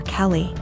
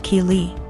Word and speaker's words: Keeley: more and I realized she was calling my daughter Kelly my daughter's name is Keeley pronounced Keeley so after school was